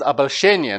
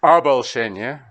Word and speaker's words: обольщение: Okay, kind of not right here because обольщение, not обольщение. But okay, kind of gives us a structure. Обольщение света, но не свет, в котором я минутами лишил.